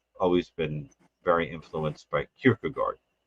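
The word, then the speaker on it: Kierkegaard: been very influenced by Kirkugard whose name I think is probably more accurately pronounced Kirkugor. Uh but but I but I no I do think that's the correct way it's pronounced but but people say Kirkagard.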